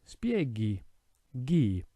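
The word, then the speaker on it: spieghi: sound of the stem what we do is we insert an h so instead of becoming sp a g it becomes spieggy gi sphere means to explain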